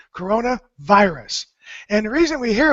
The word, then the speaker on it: coronavirus: ringing in my head Corona is a beer in the United States a very popular beer and it's actually from Mexico but the same pronunciation Corona virus and the reason we